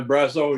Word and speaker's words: Brazeau: Thomas Wenzel, I saw you here, and Brazeau, I'm hoping I'm pronouncing that correctly. Yeah, Brazeau, yeah.